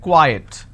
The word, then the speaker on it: quiet: some quiet means silence Qi e t is pronounced at quiet quite means Qi t